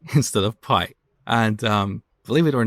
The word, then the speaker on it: pi: instead of pi but that's how we learned this back in iran we pronounce it as p and i think greek